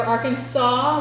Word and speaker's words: Arkansas: it, but by law, we are Arkansas with a W at the end, but we are spelled with an S.